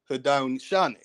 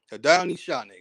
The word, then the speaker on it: Haudenosaunee: We have Iroquois, and they say that the name for Iroquois is, they'll pronounce it Haudenosaunee. Haudenosaunee, right?